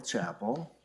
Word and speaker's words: Chapel: Hello, I'm Chapel. That's how you pronounce it.